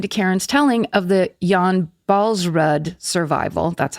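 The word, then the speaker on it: Jan Baalsrud: I loved listening to Karen's telling of the Jan Balsrud survival. That's how you're supposed to pronounce it.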